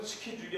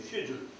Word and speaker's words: schedule: 그런데 영국말로는 스케줄이 아니라 쉐줄입니다. 쉐줄. CHEDUL인데 그는 K자 발음이 안 나고 쉐.